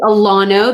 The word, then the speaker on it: Alano: Lindsay Alano, that's how you say her name.